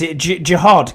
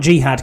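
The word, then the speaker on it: Jihaad: So, I got How do you pronounce this? Jiad Campbell. He did dab me up actually at the draft. So, not jihad Campbell. That's a totally different thing.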